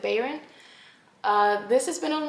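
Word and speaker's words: Bayron: Cinderella is dead by Kalyn Barron I think that's how you pronounce it Baron uh this has been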